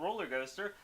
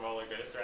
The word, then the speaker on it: Rōlrgōstr: And if you want to know more about Rōlrgōstr, you can follow them at...